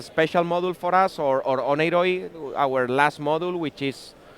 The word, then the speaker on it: Oneiroi: Is it Oneiroi? Greek will call it Oniri. Okay. Oniri in Greek.